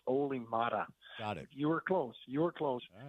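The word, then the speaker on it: Olli Määttä: It's pronounced Oli Mata.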